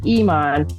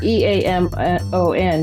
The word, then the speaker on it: Eamon: first book is called Amon it looks like Iman but I like to use Irish words yes